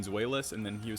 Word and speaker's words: Zweilous: Galnex says it's easy enough to say it's pronounced Zweilous.